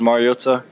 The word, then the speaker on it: Mariota: you um Marcus but the last name is Mariota um I don't know if if it's just for for the Polynesian culture you always got to enunciate the vows and uh so it's Mariota um but yeah I'm sorry so in a